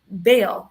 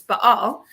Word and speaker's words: Baal: So when we find artifacts, let's say a common one for Israel is finding Baal statuettes, or my professor would, of course, correct me and be like, it's Baal. So I will try and use that pronunciation so he doesn't, correct me later.